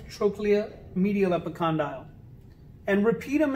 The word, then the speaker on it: trochlea: term for that is trochlea it's spelled t-r-o-c-h-e-l-e-a t-r-o-c-h-l-e-a but it's pronounced trochlea it looks like trochlea but it's pronounced trochlea that structure is this